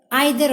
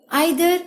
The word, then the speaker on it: either: Either of the two girls is going to win. Either or either, you can pronounce it in both ways.